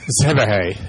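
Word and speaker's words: Szebehely: What was the beginning? Zebehay. It's a Hungarian dude.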